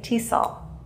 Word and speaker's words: TESOL: so we just say tesol that's called an acronym letters that are pronounced as a word but with elt English